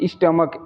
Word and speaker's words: stomach: Next हमारा rule है कि जब किसी वर्ड में ए सी एच या ई सी एच आए तो हम उसको यानी वहाँ पर CH को क पढ़ते हैं। जैसे कि स्टमक STOMACH, यहाँ पर क्या है SCH है।